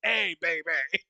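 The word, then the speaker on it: A Bay Bay: No, it's not hey. It literally, the way that the title of the song is spelled is the letter A space B-A-Y space B-A-Y. It's A, baby.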